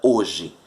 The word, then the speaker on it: hoje: a palavra hoje é o h na língua portuguesa não tem som então nós temos letras que não possui som olha hoje possui 4 letras e quantos fonemas três olha como é que eu pronuncio a palavra hoje certo mateus possui 6 letras